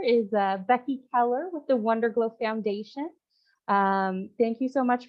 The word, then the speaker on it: WunderGlo: is called WunderGlo, and it's actually pronounced WunderGlo. So Wunder in German means miracle, and glow is Gloria.